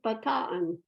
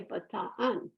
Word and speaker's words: Bataan: magazine called Bataan uh I used to say Bataan but I have a Philippine caregiver who said no you say Bataan so anyway I I